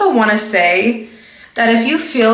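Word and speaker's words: Saie: is from SE Beauty I believe that's how you pronounce it s a i e say beauty I'm using the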